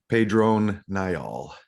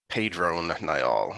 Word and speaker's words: Pedron Niall: here we have uh pedra neol we see him for the first time um i just looked up the pronunciation in the back pedrone niall pedro nyol okay it was like yeah